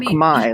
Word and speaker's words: Khmer: The culture here is Khmer. Or Khmer, as they pronounce it.